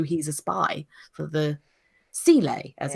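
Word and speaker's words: Seele: They could just be using him as they know he's a spy for the Sile, as it's pronounced in this episode.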